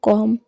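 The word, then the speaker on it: comb: होता है तो फ्रेंड्स जब भी एम के बाद बी आए तो बी हमेशा साइलेंट रहता है जैसे एन यू एम बी तो इसको हम पढ़ेंगे नम बी ओ एम बी इसको हम पढ़ेंगे बम सीओ एम बी को हम पढ़ेंगे कॉम टी एच य एम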